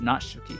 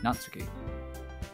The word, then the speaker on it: Natsuki: how noxic he feels natsuki I don't know why that sounds weird not shooky natsuki now I'm saying it right now natsuki natsuki natsuki